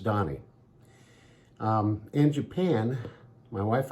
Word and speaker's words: Dahni: Donnie and it's pronounced Donnie just like you would think but the spelling of it is of my own invention and it's spelled d-a-h-n-i pronounced Donnie um in Japan my